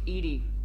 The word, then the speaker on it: EDI: Why are you named Edie? Yeah. Edie is the phonetic pronunciation of E-D-I.